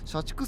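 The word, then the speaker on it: 社畜: It's pronounced shachiku. It's pronounced shachiku, right? Yes, I'll read it. I heard there's a type of person called a shachiku (corporate salaryman).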